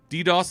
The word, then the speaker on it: DDoS: In particular, as we saw, I remember very clearly during the Warlords launch, we have seen a series of what they call DDoS attacks.